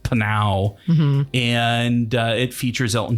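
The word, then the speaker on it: Pnau: uh australian dance musicians uh penal it's p-p-n-a-u pronounced panau and uh it features elton john and dua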